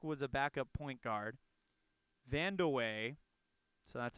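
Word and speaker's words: Vandeweghe: 94 team PAC was a backup point guard Vanda way so that's how you pronounce that name was a great shooter for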